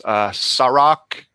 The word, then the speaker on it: Sa-Roc: I love that still, but I have another one that I'm really been riding a lot for, and that's Sarok, and it's spelled SA-ROC.